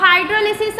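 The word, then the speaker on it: hydrolysis: पहले क्लियर कर लो, हाइड्रोलिसिस correct होता है, बट आप इंग्लिश को कई तरीके से प्रोनाउंसिएट कर सकते हो, तो लाइसिस भी चल जाता है, हो, ठीक है। तो हाइड्रोलिसिस ऑफ एस्टर, अगर हम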